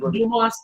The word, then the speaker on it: Dumas: so hence in the Dumas in L 1935 yeah Duma is they tend not to pronounce the yes but I don't know